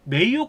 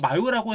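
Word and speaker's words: Mayo: 자, 누군가 이게 그냥 읽으면 마요라고 해서 마요네즈 드립을 치는 사람도 있던데 마요네즈가 아니라 미국식 발음을하면 메이오 클리닉인데 자이 병원이 세계에서 1위를 차지할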